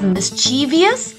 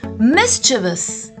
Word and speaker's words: mischievous: mischievous simply mischievous now many of you might be pronouncing it as mischievous but no it's not mischievous it goes mischievous say it once more mischievous